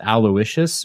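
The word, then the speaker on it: Aloysius: do you say that it's aloicious but they spell it like a yeah but it's like a Lous wait is that his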